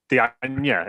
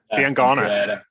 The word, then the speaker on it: Diangana: Dianya, is it? Diangana. Pereira, yeah, Dianya. Absolutely butchered the pronunciation of all the names there, but still not got our team.